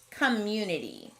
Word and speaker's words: community: next word is community i see a closed syllable c-o-m but it doesn't sound like a short o community that sneaky schwa is showing up again we can handle a